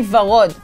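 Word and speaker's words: ורוד: Okay, now say varod. Va. Va. Rod. Rod.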